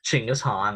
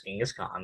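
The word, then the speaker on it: Chinggis Khan: the of course ching is han more commonly known as genghis khan but that's not correct pronunciation the founder of the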